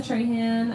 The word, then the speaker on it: Tran: My name is Tran. Um, I'm Tran on pretty much all platforms. It's like Michael Strahan, but without the S.